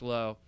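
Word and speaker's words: Lowe: want to start with the one that pronounces his last name low Josh low has had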